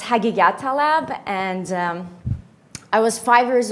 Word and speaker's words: Haghighattalab: about my family name it's very hard to pronounce and it's hagigah Talib and I was five